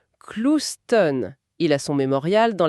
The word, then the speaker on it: Clouston: Petite anecdote, il tenait à la prononciation Clouston.